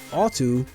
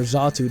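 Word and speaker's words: Xatu: my favorite pokemon is alto or zatu depending on how much how you pronounce it i don't know pronunciations for pokemon games vary from person person to person but also is my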